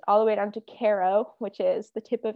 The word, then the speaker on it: Cairo: the way down to Caro, which is the tip of Illinois. And one fun fact is if you pronounce it Cairo, you'll be ousted by locals knowing that you are a non-local.